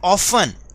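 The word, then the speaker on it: often: They ऑफन, यहां पर ये क्या है, ऑफ्टन नहीं बोलना बेटा, क्योंकि टी इसमें साइलेंट है, तो हम इसे बोलेंगे दे ऑफन।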